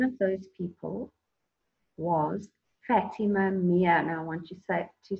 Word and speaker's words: Meer: And one of those people was Fatima Meer. Now I want you to say it for me three times. It's not Fatima. Not Fatima Mary, Mary. It's Fatima Meer.